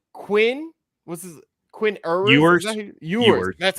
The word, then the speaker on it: Ewers: Ewers. That's how you say it. Ewers.